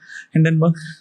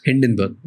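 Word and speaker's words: Hindenburg: बर्ग done बर्ग done बर्ग हाउ ड you pronounce इ हिंडन बर्ग हिंडन बर्ग okay so जो हिडन बर्ग ने रिसर्च निकाली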